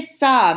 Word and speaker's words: ça: Après ça means after that. Après ça. Notice the squiggle under the C, right? It's called a cedille. And it means that the C is pronounced like an S.